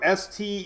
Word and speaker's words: Steinhatchee: Keaton Beach, Steinhatchee, and I wrote Steeen. I was like, say it right, because I got corrected